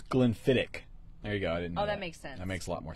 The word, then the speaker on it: Glenfiddich: he's really good at so Colin says CHS pronounced so it's Glenfiddich there you go that makes sense that makes